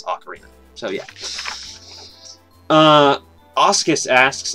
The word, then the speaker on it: Ocarina: a real word so there's definitely a correct pronunciation and it is Ocarina it is definitely not something where there's a